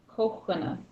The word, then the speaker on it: Kukwina: Kochwina. So the double O is a long O sound.